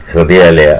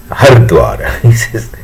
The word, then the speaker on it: Hridayalaya: Unfortunately, that man cannot pronounce Hridayalaya. He says Narayana Hardwar. He is talking about Narayana Hridayalaya as Narayana Hardwar. And he just, even after staying there for 3-4 months for some cardiac surgery, he is still unable to pronounce Hridayalaya. He is only saying Hardwar, and he of course